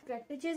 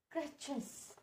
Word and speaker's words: crutches: बट क्रेटेचेस इज the correct pronunciation और not? Of course are नॉट. The correct pronunciation is that क्रेचेस. क्रेचेस. क्रेचेस. टी इज a silent. क्रेचेस. क्रेचेस. Last sound is जेड.